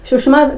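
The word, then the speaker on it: Tsushima: सुषमा धारा क्या है इसका देखो स्पेलिंग टी साइलेंट है सुषमा करंट 30 डिग्री उत्तरी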